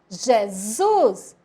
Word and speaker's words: Jesus: Jesus formou que palavra palavra Jesus com s s com som de z Isaac olha lá como